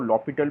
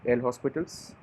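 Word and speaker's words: L'Hôpital: बहुत सारे स्कूल में इसको लॉपिटल भी बोलते हैं, और अलग अलग नाम से प्रोनाउंस कर सकते हैं, डजेंट मैटर, हमें रूल इंपॉर्टेंट है, ये किस वे में प्रोनाउंस किया जाता है, that is of course immaterial. But आई was taught एल हॉस्पिटल्स, आई am using एल हॉस्पिटल्स। तुम्हें स्कूल में लॉपिटल सिखाएगा, तुम लॉपिटल यूज़ कर लो।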